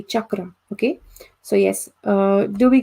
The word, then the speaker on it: chakra: Okay, so like how, yes, about how do you say like cello or chavata? Okay, that's how you say chakra.